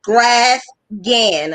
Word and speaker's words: Graphghan: Graphghan. A lot of people don't understand, but the graph is like the chart, and the gan is like an Afghan.